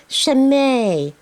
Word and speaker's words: Chimay: It's like shame, but it has a little dash on top of the E, so it's pronounced Chimay.